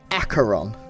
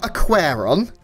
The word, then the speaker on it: Aqueron: mate to help me wow and it is acaron acaron it's not aqueron that's what I used to say and kic